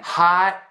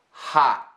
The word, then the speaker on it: hot: So, hot. Almost saying the T, but not.